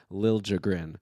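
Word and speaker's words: Liljegren: that uh pronunciation that apparently he wants a harder J sound when people say Lil jrin so now we know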